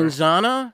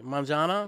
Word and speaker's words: manzana: not pronouncing it correctly monzana monzana yeah you don't go like yeah you're doing the you're doing like the Z and we don't they don't necessarily Z as much as us it's almost a little